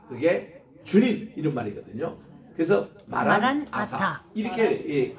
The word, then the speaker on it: 마라나타: 그렇게 할 때도 보면 마라나타 붙여 있지 마시기 바랍니다 마란이라는 것이 바로 오시옵소서 아타 그게 주님 이런 말이거든요 그래서 마란 아타 이렇게 발음해 따라다 마란 아타 마란 아타 아타는 주님이요